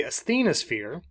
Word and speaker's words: asthenosphere: we have this layer called the asthenosphere the asthenosphere is how it's pronounced is part of the upper mantle so